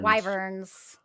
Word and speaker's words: wyvern: Wyverns. Oh, wow. So there's no silent letters.